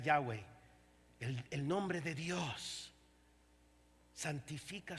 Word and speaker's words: Yahweh: dios de la salvación lo pronunciamos en español Jehová Pero es en realidad Yahweh el nombre de Dios